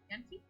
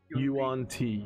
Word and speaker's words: Yuan-ti: and they're gods of Yanti? Yuan-Ti.